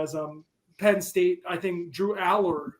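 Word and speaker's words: Drew Allar: I think Drew Aller. I found out I've been saying it wrong forever. It's Drew Aller.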